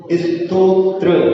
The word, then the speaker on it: स्तोत्र: इसमें आवाज ऐसी आती है स्तोत्र, स्तोत्र क्या बोलते हैं? त्रा पहले नहीं है, त्रा बाद में है। स्तोत्र, स्तोत्र ये निराला।